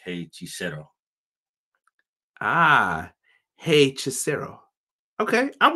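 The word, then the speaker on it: Hechicero: Quills has it pronounced, is it Hey Chisero? Does that sound better? Yeah, that sounds right.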